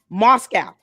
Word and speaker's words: Moscow: This girl can't even pronounce the word Moscow. She says Moscow. They won't even correct her on that. Proper English and pronunciation of terms. 2 syllables. Moscow. She's saying Moscow. Like Roscoe's.